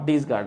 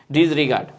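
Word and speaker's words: disregard: করছি না জুলহাস আহমেদ লিখেছে হচ্ছেডিগার্ড আচ্ছা নট ডিসগার্ড আচ্ছা আচ্ছা হ্যাঁ ওটা আমি উচ্চারণ ভুল করতেছিলাম ডিজ রিগার্ড sorry sorry sorry sorry ওটা আমি উচ্চারণ ভুল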